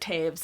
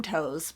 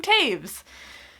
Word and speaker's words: Toews: Yes, I said Toews. I had to watch a video by The Poptimist to realize that in my review of this book, I said it wrong, because I kept saying Miriam Toews, but it's Miriam Toews.